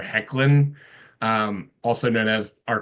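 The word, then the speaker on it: Hoechlin: before in real life I was going to say Tyler hawlin but it's a it's a soft o hard e it's Tyler heckin um also known as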